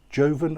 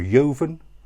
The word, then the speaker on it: joven: This is Espartero Rioja Joven. Joven or Joven, whichever way you pronounce it.